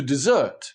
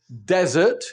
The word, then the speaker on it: desert: For example, the verb to desert means to abandon or to leave behind. And desert is the big, hot, dry, sandy place that everybody has left behind.